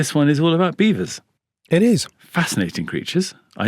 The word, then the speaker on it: Belvoir: So it's spelt Belvoir, but it's pronounced Beaver.